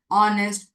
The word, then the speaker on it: honest: case such as are, honest, hotel, hair, honorable. In these words or these examples, H is to be silent.